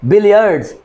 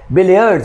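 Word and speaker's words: billiards: की गेम होती है, इसको बिलियर्ड नहीं कहते, ठीक है, बिलियर्ड्स हमेशा इसको प्रोनाउंसिएशन इंग्लिश में हमेशा इसको बिलियर्ड्स कहा जाता है।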